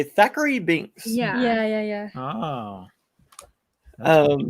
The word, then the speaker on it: Thackery: is it zachary or thackery because some people pronounce it thackery it's stackery daiquiri okay yeah yeah because you could hear bette miller say thackery binks yeah yeah oh oh wow i didn't